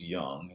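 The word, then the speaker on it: Jung: so Josh Young yes it's young j-u-n-g is pronounced young like Michael Young this is Josh Young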